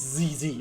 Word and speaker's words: ZZ: pronounce it ZZ oh no no apparently it's ZZ okay yeah we've got confirmation in the Discord chat so it's easy but yeah that's that's